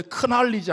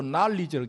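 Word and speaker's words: knowledge: 원래 크날리지 안 그러고 날리지를 K가 묵음돼. 다 헬라어에서 넘어간 거예요.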